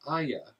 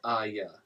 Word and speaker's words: Arya: She says her name is Aya when she says her name. I just thought it was interesting, the pronunciation. Aya. She doesn't say the R.